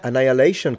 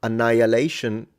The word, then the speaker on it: annihilation: Yet yeah, annihilation comes from it. Interestingly enough, annihilation, you don't pronounce the H. You don't say annihilation in English.